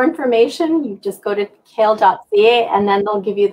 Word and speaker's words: CAEL: if you go to kale.ca so cael.ca pronunciation is like the vegetable the spelling is not but it is kale.ca